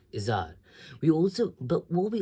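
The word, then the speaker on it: Izhar: for what I said Cora's father's name was izzar is ah Izar we also but what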